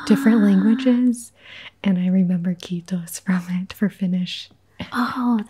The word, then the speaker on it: kiitos: Kiitos. Kiitos.